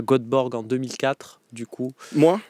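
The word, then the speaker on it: Göteborg: demande si cétait à godborg en 2004 du coup moi tu étais peut-être pas déjà dans ton aventure suédoise mais prononce Ybor yborg au passage c'est pierreluigi Colina onance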